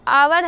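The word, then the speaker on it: hour: Example भी बताया गया है, आवर है, आप कभी हावर इसको नहीं पढ़ते होंगे क्योंकि यहाँ पे एच साइलेंट होता है, तो आवर पढ़ते हैं, तो हो जाएगा एन आवर।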